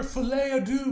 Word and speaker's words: Folie à Deux: y'all and welcome to my review for Joker fet Ado yes I fin learned how to pronounce the name I was watching a video